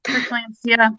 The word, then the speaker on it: preeclampsia: I don't know how to pronounce it. Yeah, preeclampsia.